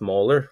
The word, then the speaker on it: molar: five zero molar so we do pronounce this molar like the tooth 0.25 molar sodium chloride